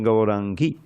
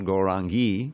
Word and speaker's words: Gaurangi: Believe it or not, Tapta Kanchana Gaurangi, all those I's at the end there are short because you're addressing her directly. In the vocative, it's not Gaurangi, Devi, like we normally say, which is no, but it's Gaurangi.